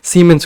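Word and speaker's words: siemens: Conductance का unit है, और उसको हम प्रोनाउंस कैसे करते हैं? सीमेंस की तरह, सीमेंस।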